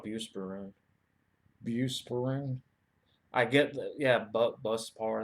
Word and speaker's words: Buspirone: Buspirone. I get the, yeah, Buspar. That's kind of for short. That's kind of how you pronounce it.